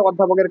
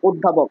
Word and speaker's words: অধ্যাপক: আর এখানে অধ্যাপনা আছে, অধ্যাপনা হচ্ছে অধ্যাপকের কাজ। সরি, এটার উচ্চারণ হচ্ছে অধ্যাপক, আমি নিজেই এটা ভুল উচ্চারণ করছি। এই অয়ের উচ্চারণ হবে ও এর মতন, বিবৃত উচ্চারণ অধ্যাপক।